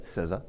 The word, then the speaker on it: CISA: Now known as CISA, the Cybersecurity and Infrastructure Security Agency, and that is the proper way to say it, CISA.